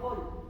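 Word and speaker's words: Hohl: La célula de Hall, así se llama Hall, se escribe H-O-H-L.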